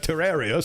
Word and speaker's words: Terraria: out all right like terrarium yes like terrarium I never knew that but I went to the Wikipedia of Terraria and made the click the little pronunciation icon and he said it Terraria so it must be true Wikipedia never lies ow